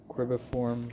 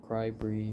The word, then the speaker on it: cribriform: Next is the cribiform plate. Or cribriform. Cribriform is how you say it.